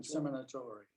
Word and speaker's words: Seminatore: Dan Seminatore. That's Joe, I know. SEMINTORE. He pronounces it Seminator.